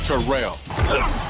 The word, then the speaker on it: Terrell: And it's pronounced Terrell. Terrell Davis joins an all-pro lineup on NFL Network.